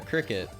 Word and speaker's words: Cricut: paper though no no no a crick a cricket which is spelled Cris c-u-t is a cutting machine so